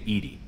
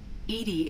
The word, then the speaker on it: EDI: See what EDI has to say.